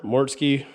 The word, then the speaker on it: Mortske: More Mortske Repair. Just like it sounds, just like it's spelled. More Mortske Repair.